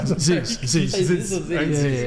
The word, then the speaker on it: Zyzz: yeah, just be like, do you know a famous bodybuilder named Ziz? You know ZYZZ. Okay, what do you reckon? Am I saying it wrong? Ziz.